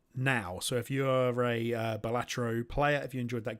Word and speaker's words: Balatro: I say Balatro, but I've been listening to a lot of Americans sing it out loud, so I've probably been influenced by the Yankeeisms.